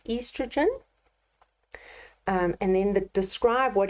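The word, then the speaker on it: oestrogen: would be estrogen so even though it's spelled with an O we pronounce it as estrogen and then the describe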